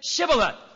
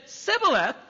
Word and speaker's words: Shibboleth: If he replied no, they said, all right, say Shibboleth. If he said Sibboleth, because he couldn't pronounce the word correctly, they seized him and killed him at the fords of the Jordan.